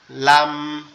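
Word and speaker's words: لام: লাম লাম এটার উচ্চারণ স্থান হচ্ছে লাম আমাদের জিহ্বাটা উপরের তালুর সঙ্গে লাগবে, জিহ্বার মাথাটা উপরের তালুর সঙ্গে হালকা করে লাগবে, লেগে আওয়াজ হবে লাম।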